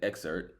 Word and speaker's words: EXVRT: Exert but it's spelled EXVRT.